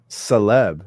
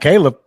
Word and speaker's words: Caleb: Where does Where does that pronunciation come from? What? Celeb. Celeb. Because it's not Caleb.